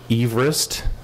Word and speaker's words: Everest: it was named after Sir George Eve wrist was his pronunciation but no one liked that pronunciation so they called it Everest we don't actually know